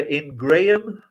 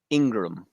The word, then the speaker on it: Ingraham: Do you say her name is Laura Ingraham? Ingraham? This uh, I believe it's Ingram.